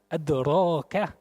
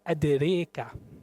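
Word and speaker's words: أدراك: Например, как слово в суре Аль-Кариадрака передаёт ээ Хафз отсим, что она читается адрака. Ашааба передаёт, что она читается адрека.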